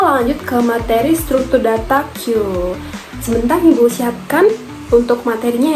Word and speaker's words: queue: Ini bacanya Q ya anak-anakku, bukan kue. Kalau kue nanti makanan loh ya.